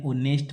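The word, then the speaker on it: honest: अब देखो ही इज एन ऑनेस्ट मैन। इसमें एज साइलेंट है। ऑनेस्ट बोला जा रहा है।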